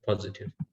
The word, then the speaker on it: positive: the second eye yeah it's on the second syllable yeah positive uh what about combination